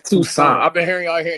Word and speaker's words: Toussaint: It's Toussaint.